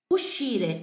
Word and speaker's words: uscire: O SCI vai produzir esse som de X, esse X no italiano.